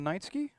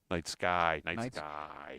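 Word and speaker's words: Nightsky: I have gone back and forth as to how to pronounce this thing. I am Team Night Sky. However, apparently the Kellhounds pronounce it Night Ski, so I have to go with them.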